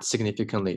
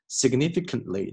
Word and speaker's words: significantly: a health problem that significantly 这个 t 弱化 significantly 这个 t 不要读成了 significantly 这个 t 千万不要读过于清楚 significantly affects how a